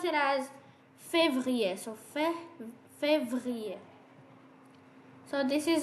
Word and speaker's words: février: So whenever you add this accent aigu, so basically you gotta pronounce it with e. So it becomes février, February.